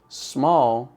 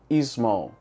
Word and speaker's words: small: É o motivo pelo qual, em vez de falar small, algumas pessoas falam small, ou em vez de